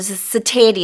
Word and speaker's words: satiety: 여기서는 가운데 트 발음이 들어가는데요. 이게 형용사 satiable이 됐을 때는 T로 발음하지 않고 슈로 발음을 합니다.